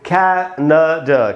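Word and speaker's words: Canada: इसको पढ़ेंगे दोस्तों कैनाडा, कैनाडा, कैनाडा। इसमें कै में जो ए है वहीं पर रुकना है आपको, न के बाद आधा अ है, ड के बाद आधा अ है, कैनाडा ऐसे पढ़ना है, कैनाडा, कैनाडा।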